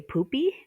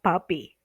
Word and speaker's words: puppy: So, for example, do you want a poopy? No, nobody wants a poopy. They want a puppy. Okay. So you're not splitting the syllable, the PU. Okay. It's PUP, consonant, vowel, consonant, which should make that U short.